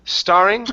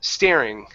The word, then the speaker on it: staring: And your last one here, instead of starring, it's stare. Staring. Staring.